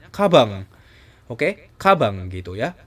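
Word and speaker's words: かばん: itu artinya tas tapi karena n-nya ada di terakhir kosakata maka kita bacanya kabang Oke kabang gitu ya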